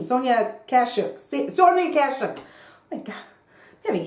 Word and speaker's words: Kashuk: sponge, and the Eco Tools, and the Sonia Koshak one. What is it? Why can't I pronounce her name? Sonia Kashuk.